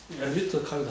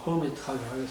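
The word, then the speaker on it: Hermite: 자, 그래서 첫 번째는 허미트 폴리노미얼, 발음이 좀 엘비트하기도 하고 뭐 허미트하기도 하고 여러 가지 발음이 있습니다.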